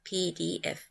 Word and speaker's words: PDF: PDF. P portable, D document, F format. We pronounce this acronym as letters, PDF.